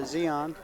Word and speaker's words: Zion: okay well Holden's a woman up waiting for Zeon wow I can't believe I called them Zion all these years I feel so bad that's